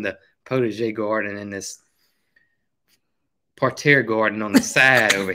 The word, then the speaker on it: parterre: And I almost positive it's parterre.